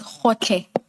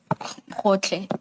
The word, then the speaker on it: Gotlhe: It's Hotle. Hotle. Thank you. And maybe, Ms. Hassim, it may have to be spelled for the transcript. Thank you. And that's spelled Gotlhe. Hotle.